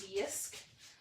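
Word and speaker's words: JYSK: gets pronounced i think it's technically pronounced yisk but it's j-y-s-k for and it's in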